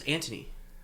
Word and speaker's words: Antony: But they would pronounce it as Antony. They say it real fast.